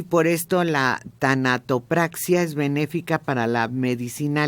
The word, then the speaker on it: tanatopraxia: Oye, que fue un experto en a ver si lo puedo pronunciar, tanotopraxia. Tanatopraxia.